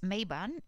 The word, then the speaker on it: Mabon: mabine ou non mais bon se prononce mayban et son nom se